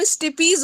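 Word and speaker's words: stapes: वो जो ईयर की बोन है ना, उसका नाम स्टिपीज होता है। तो वो ना बच्चे गलत अगर प्रोनाउंसिएशन करेंगे ना तो फिर आगे वो चलता चला जाएगा। सबसे छोटी बोन होती है ना स्टिपीज, सर ये भैया बॉडी में, हो तो स्टिपिस। हाँ हाँ उसको ना स्टिपीज स्टिपिस, कहते मैं खुद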